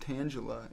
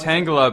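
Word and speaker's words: Tangela: Pokemon we're talking about it's pronounced tangula in Pokemon oh tangula no it's not it's not I pronounced it wrong this whole time tangula Tanga it could be either one how do you guys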